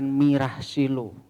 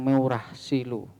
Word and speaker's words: Meurah Silu: Kadang diucapkan Mirah Silu, kadang Meurah Silu.